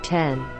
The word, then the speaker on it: X: The X, pronounced 10, is a beautiful, modern sculpture, and iPhone owners finally have a reason to show off their phones again.